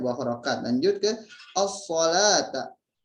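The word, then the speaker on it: الصلاة: Lanjut ke as-salata. Ada alif lam syamsiyah. Ketika alif lam tidak dibaca jelas, maka hukum bacanya alif lam syamsiyah.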